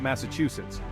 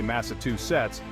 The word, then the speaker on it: Massachusetts: gets Tangled Up In Tongues we're talking about Massachusetts now some folks might try to simplify things and say Massachusetts but that extra two is throwing off the